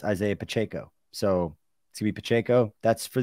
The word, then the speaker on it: Pacheco: is it yeah Pacheco Pacheco it's Isaiah Pacheco for a year okay I was told that it was pachico and that was wrong and now I'm saying now people tell me it's Isaiah Pacheco so CB Pacheco that's